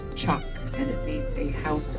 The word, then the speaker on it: teach: say it in English but in Irish it's pronounced chalk and it needs a house or a dwelling